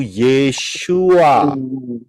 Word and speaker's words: Yeshua: sini kemudian yang berikutnya jadi yesua tulisannya y e s h u a itu adalah cara pengucapan pronounciation kalau gak gitu kita